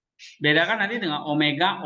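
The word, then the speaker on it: ωμέγα: Nah, ini bacanya omega, O panjang. Kalau ini omikron, O kecil ya, seperti kayak Latin juga.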